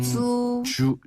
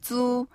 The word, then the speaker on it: 租: 房租. 주라고 하네요. 네, 租. 근데 房租. 네, 쭈쭈바 할 때 쭈랑 비슷해요.